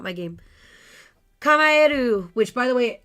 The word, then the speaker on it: Kamaeru: Kamaeru, which, by the way, almost everybody says wrong. And I'm not surprised. I was one of them, too. But when I was at PAX East and met the developers, they taught me how to say it right. So it is Kamaeru. It is Japanese for frog, which they also told me while I was there.